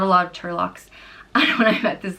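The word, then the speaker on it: Toirdhealbhach: The next name is Turlock, and it means he who aids or assists, and it's pronounced Turlock.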